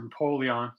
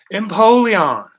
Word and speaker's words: Empoleon: Pokemon, whose name I had, not Imperileon or Empoleon.